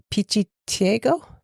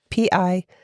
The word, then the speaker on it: pichiciego: The name that they call it in Argentina, and I'm going to probably pronounce this incorrectly, but Pichiciego, Pichiciego.